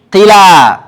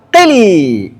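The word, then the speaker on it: قلى: Kemudian waqaf qila atau qili. Nah, guru saya bacanya qila. Nah, Doktor bacanya qili.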